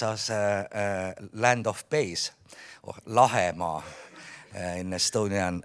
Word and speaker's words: Lahemaa: If Lahimaa translates as land of bays, or Lahemaa in Estonian right pronunciation, then Soma translates as land of mires.